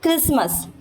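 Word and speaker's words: Christmas: तो castle castle फिर क्रिसमस क्रिसमस क्रिस मस टी साइलेंट फिर फैशन फैशन फैशन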